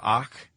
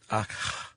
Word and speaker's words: Akh: The Ka, the Ba, and the Ak. Ak. Yeah. AKH. Yeah. It's always tricky to pronounce that.